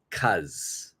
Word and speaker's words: because: let's look at pronunciation when we pronounce the word because especially in spoken English in Canada or America our pronunciation is going to be CZ CZ we don't say the b we don't say the whole word we don't say because we're just going to say CZ so why did you